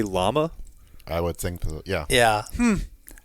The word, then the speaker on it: llama: Okay, they say it's double L, so they say llama.